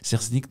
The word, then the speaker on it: Sertznig: Aujourd'hui, on va parler de vin et de crément puisque Sernick nous emmène là-bas. bonjour. Bonjour. Est-ce que déjà j'ai bien prononcé votre nom ?